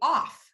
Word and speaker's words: of: And so that would make it say off. And it doesn't say off, it says of.